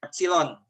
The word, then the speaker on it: epsilon: Ini mirip huruf E, ini epsilon. Biasanya epsilon itu salah satu huruf Yunani ya, epsilon, huruf kelima. Itu huruf Yunani, E itu. Huruf E-nya Yunani begitu nulisnya, ya, epsilon per 2.